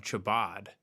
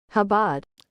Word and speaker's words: Chabad: Below is a link, hopefully it works, of a documentary from 1992 on Chabad, the Hasidic sect you saw in the news digging tunnels in their main synagogue.